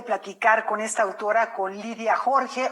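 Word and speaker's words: Lídia Jorge: con esta autora, con Lidia Jorge o con Lidia Jorge, como sería la pronunciación más cercana al portugués, a su lengua original, pero bueno, en español la conocemos de muchos años como Lidia Jorge.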